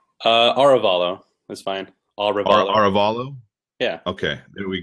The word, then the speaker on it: Arevalo: I I I haven't heard phonetically how to pronounce the last name uh aralo that's fine aralo aralo yeah okay there we go so Matt